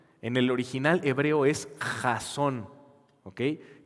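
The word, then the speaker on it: חזון: Esa palabra visión en el original hebreo es jasón. ¿Okay? K J A Z O con acento N. Jason.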